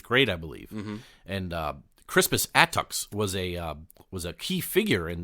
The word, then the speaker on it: Crispus Attucks: You should actually say it like this, which is funny to say because Crispus Attucks.